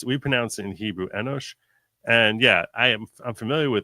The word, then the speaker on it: Enoch: We call him Enosh. We'd probably spell it with an S instead of that C. But we pronounce it in Hebrew Enosh.